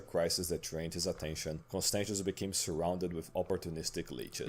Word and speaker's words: Constantius: I wanted to really know this man's name and pronounce it correctly. Constantius.